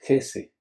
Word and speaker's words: Hesse: escritor alemán Hermann, bueno, para los que pronuncian más bien el alemán, yo no sé alemán, me van a disculpar, pero es Hesse, Hermann Hesse. Bueno, yo siempre le digo Hesse, un poco eh, a